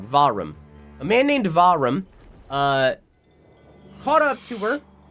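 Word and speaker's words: Vahram: uh while while kidnapping him a man named varnum uh sorry I keep saying his name wrong vum a man named varum uh caught up to her killed the Prince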